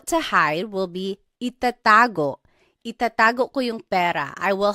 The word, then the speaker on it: itatago: Itatago ko yung pera. I will hide the money. Itatago. So again, you are just repeating the second syllable.